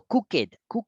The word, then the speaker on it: cooked: tengo que hacer es, uno, tengo que dejar de agregarle una sílaba de más a la ed. No la necesito, sino en ciertas palabras. Pero mucha gente dice eso, mucha gente le agrega una ed porque quieren pronunciar el sonido de la ed por separado. Entonces yo digo cooked, porque yo digo, porque claro, el ed es un sonido aparte, entonces me separa la sílaba.